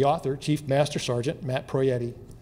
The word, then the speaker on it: Proietti: to introduce the author Chief Master Sergeant Matt proietti you said my name perfectly I said it incorrectly till I was like in sixth grade I used to say I used to say Pro and then my dad said you know you